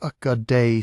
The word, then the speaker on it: Ögedei: Ögedei Khan, pronounced "Uh-guh-day", son and successor of Genghis Khan, died in December 1241.